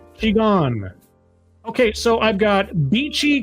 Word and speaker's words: Qigong: And it's pronounced Qigong. Qigong.